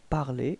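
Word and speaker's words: parlé: Okay, well, pronunciation is the same. Parler, parler. Okay, but then you can see that you write it differently.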